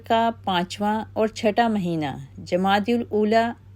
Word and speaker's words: جمادی الاولیٰ: ممتاز کر دیا گیا۔ ہم اہل اردو ان مہینوں کو جمادی الاول و جمادی الثانی لکھتے اور بولتے ہیں، حالانکہ ان دونوں مہینوں کے ناموں کا صحیح تلفظ جمادی الاولیٰ و جمادی الاخری یا جمادی الثانیہ لکھا اور بولا جاتا ہے۔ ان دونوں مہینوں کی